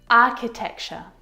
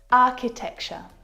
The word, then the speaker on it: architecture: Architecture. Architecture. This one is so often mispronounced. I hear architecture. Acture, which is incorrect. The ch sound in this word is a c sound like in cat.